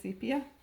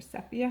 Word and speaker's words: Sepia: So this just makes it look a little antique, and I especially love this Ranger Archival Sepia, or Sepia, however you choose to pronounce it.